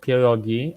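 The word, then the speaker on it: pierogi: a different thing second of all it's called poogi and if you add an S at the end of it you're dumb because poogi is already plural fighting word Uncle May fighting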